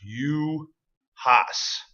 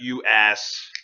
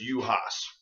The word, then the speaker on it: Juhasz: And for you, Matt, it is pronounced Juhasz, not you ass. It's Hungarian. If you can't pronounce it, don't worry about it. But it's Juhasz.